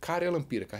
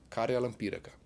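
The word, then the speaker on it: karjalanpiirakka: Yes, Karjalan Piirakka. Repeat with me. Karjalan Piirakka. It took me some time to learn how to pronounce this word.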